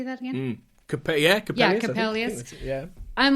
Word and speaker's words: Coppelius: Coppelius.